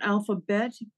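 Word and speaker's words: Alphabette: It's called Alphabet, B-E-T-T-E, although some people say Betty, and I don't care if they buy it. I don't care how they say it.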